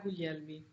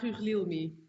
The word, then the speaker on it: Guglielmi: If you pronounce it the Italian way, it would be Guglielmi. Guglielmi. Yeah, if you pronounce it the Dutch way, it would be Guglielmi.